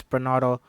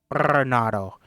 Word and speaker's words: Bernardo: My name is Bernardo. Bernardo. If you can't roll your R's, please don't embarrass yourself.